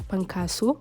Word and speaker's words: Pankaso: written as fasu with an F it is pronounced as pankas with a p because there is no letter